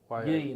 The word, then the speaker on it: Yean: Yean, like lean with the letter Y.